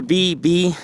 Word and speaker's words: Beebe: up here major Beebe his name is major Beebe like the letter B and then B spelled like a honey bee bee and Frederick Smith